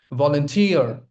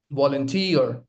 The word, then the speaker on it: volunteer: Volunteer. Volunteer. The stress lies on the third syllable.